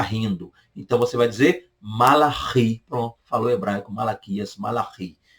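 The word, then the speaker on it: מלאכי: Por fim, Malaquias, português, do hebraico, Malachi. Malachi. É só você lembrar de uma mala e essa mala está rindo. Então você vai dizer Malachi.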